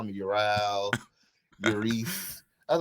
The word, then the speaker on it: Ural: It is Ural. It's Ural. Oral. Oh, damn it.